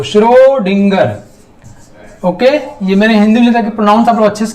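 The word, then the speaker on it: Schrödinger: inner साहब ने shrewdgar श्रोत श्रोत श्रोत ऐसे प्रोनाउंस करना आपको शुरू डींगर ओके यह मैंने हिंदी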